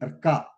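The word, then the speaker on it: अर्क: And then Arka. Arka. Arka means Surudu. Arka. Or Arka and Jilledu. Arka and Surudu. Arka. Arkaha. Arkaha, where what you are pronouncing before Ka, you are pronouncing Ra.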